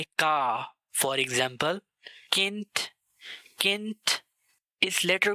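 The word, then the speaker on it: Café: Rule number 1, जब भी से के बाद आ, ओ और ऊ आए तो उसको प्रोनाउंस किया जाता है का। Example काफे, काफे।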